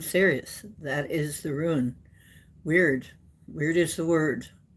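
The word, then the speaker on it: wyrd: Weird. Weird is the word. It's also sometimes pronounced word.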